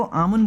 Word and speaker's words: आमुन: अब कुछ लोग इनको आमुन बुलाते हैं और कुछ लोग इनको यमन बुलाते हैं, और इसको प्रोनाउंस जो करा जाता है ना, यानी कि जो बोला जाता है वो करा जाता है यामुन।